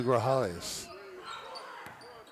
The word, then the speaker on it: Grajales: Lima gets the ball to Grajales. The J is silent.